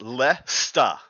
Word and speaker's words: Leicester: It is pronounced Leicester.